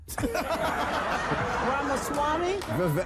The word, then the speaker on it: Ramaswamy: I'm is it rasama ramaswami ramas Swami thank you so much I learn